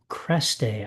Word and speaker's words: Cresté: Tonight, in addition to our open reading, our featured reader is Laura Cresté. I think I'm pronouncing that correctly with the accent aigu over the second E.